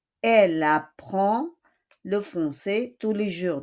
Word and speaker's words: apprend: Elle apprend. On ne prononce pas le D. We do not pronounce the D.